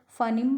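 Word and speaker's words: phoneme: भी बोलते हो, क्योंकि यूके इंग्लिश अर्थात जो हमारी ब्रिटिश इंग्लिश है उसमें इसकी प्रोनाउंसिएशन है फनीम। और इसी के अपोजिट अगर हम बात करते हैं अमेरिकन इंग्लिश की तो वहाँ इसे कहा जाता है फोनिम।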